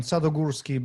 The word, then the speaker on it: Sadogursky: last name i'm sorry it's it's exactly how it's written sadogursky but the best way to